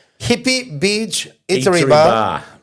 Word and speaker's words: Hippie: I would send you to Hippie. Hippie. Hippie. That's Yeah. how it's spelled.